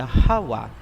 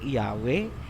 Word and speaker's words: Yahawa: So klarado na po tayo, ang pangalan ng ama ay Yahawa, hindi Yahweh, hindi Jehovah, hindi Ahaya, hindi Yahuwah, at mas lalong hindi Jesus Christ. Lahat yan ay Babylonian Masoretic na bigkas.